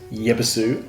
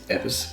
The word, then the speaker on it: Yebisu: Even though it says Yebisu on there, on English, it's actually pronounced Yebisu. And I think even some people go, it's Ebis, but I think most people can pronounce it Yebisu.